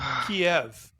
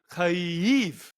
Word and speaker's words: Kyiv: Well, why would you say Kiev? It's I mean, Kiev. like, well, it's actually Kyiv.